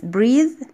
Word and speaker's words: breathe: breathe the verb بيتنطق long E. طب لو شلنا ال E اللي في الآخر هيبقى breath، النفس نفسه، تبقى noun.